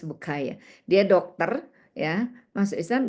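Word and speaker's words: Bucaille: Jadi dia kasih kuliah umum dia menjadi mualaf orang pintar Mauris Bukaya Perancis ya bacanya jangan bukaile bukay Mauris Bukaye.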